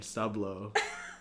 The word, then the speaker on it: Soobsoob: And I'm like, if you saw 10 seconds, you know it's Sublo because he's a submarine. Working at a sub shop. Yeah. There's a lot of reasons he's named Sublo, but it's okay though.